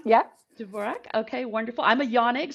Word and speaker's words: Dvorak: I'm hoping I'm pronouncing correctly, Dvorak? Dvorak, yeah. Dvorak, okay, wonderful.